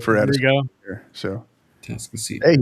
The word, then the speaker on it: Atascocita: Atascocita End of the road for you guys here, so Atascocita Hey, you did say it right.